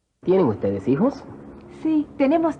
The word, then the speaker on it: hijos: ¿Hijos? Keep in mind that the H is not pronounced in Spanish. Also notice that the J is pronounced like an H in English.